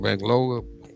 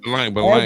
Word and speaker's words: Balanga: Is it because how we pronounce his name? Bangaloa? Balanga, man. Balanga.